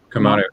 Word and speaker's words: Kumanu: Kumanu. Yeah, it's Maori for nourish and cherish.